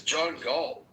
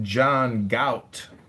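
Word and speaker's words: Galt: Who is John Gall? I think you're pronouncing it wrong. It's pronounced John Gout.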